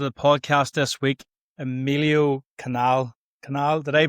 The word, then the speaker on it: Canal: podcast this week Emilio Canal. Did I pronounce it? My pronunciation skills, Emilio, are not the greatest, so you'll have to make sure that I just like Panama Canal, Suez Canal, so it's easy.